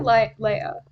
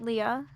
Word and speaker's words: Leah: Is it Leah or Leia? I pronounce it Leah.